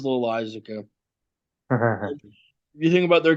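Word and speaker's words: Loáisiga: Setup men of Wandy Peralta and Jonathan Lasagna. I'm just going to say Lasagna. I'm not even going to pronounce it. I think it's Loisaca. It is Loisaca.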